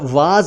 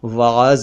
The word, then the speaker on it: वाज: ये बनेगा वाज और वाज भी उर्दू में अरबी से ही आया है उच्चारण इसका वाज होता है लेकिन आमतौर पर वाज कहा जाता है और इसका अर्थ होता